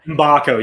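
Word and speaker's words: Mgbako: I believe it's pronounced Mbakco. Mbako.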